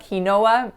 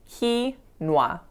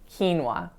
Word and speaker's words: quinoa: So it's not quinoa, it's just 2 syllables, quinoa, quinoa.